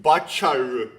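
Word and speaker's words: バーチャル: But it gets it's it's it gets really butchered because there's no VV sound in Japanese. Actually, there is, but they don't use it. So, they turn into B.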